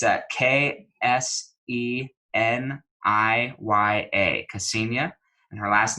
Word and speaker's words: Kseniya: I'm going to spell it for you just so you can get this right, because I wouldn't say it's spelled how it sounds, but it's Kseniya, Kseniya, and her last name is Kniaz as in zebra, EVA.